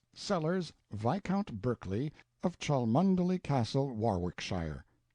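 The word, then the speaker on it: Cholmondeley: sellers Viscount Berkeley of Charles mundely Castle Warwickshire pronounced kacubri slanover Marsh Bank sellers VI count Barkley of Chumley Castle Yorkshire he is standing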